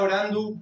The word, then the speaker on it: orando: Ela está orandu por sound. Lo mismo orando. La voz final va a sonar como una u.